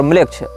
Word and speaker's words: Melech: ANAMMLECH या इसी प्रकार की कोई स्पेलिंग आप टाइप करेंगे, अनाम ANAM और म्लेच्छ। इसमें म्लेच्छ जो है वो हमारा वाला म्लेच्छ नहीं है, मेलेच्छ, मेलेच्छ शब्द जैसा है, MELECH इस प्रकार से।